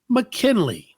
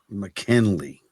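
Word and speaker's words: Ma'Kynnleigh: y n n l i g h is pronounced mckenley mckenley right man man just spell it right man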